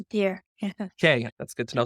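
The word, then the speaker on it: DIER: level the die er do you pronounce that deer or is it just d-i-e-r I pronounce it as a deer okay that's good to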